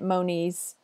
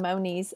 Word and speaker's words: Monies: I'm saying it wrong Moniz and Moniz but it looks like it rhymes with ponies so no knees right